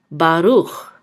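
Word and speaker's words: ברוך: And this is a chaf sofit. And this shava will be silent, usually is silent at the end. So this part of the word says ruch, baruch.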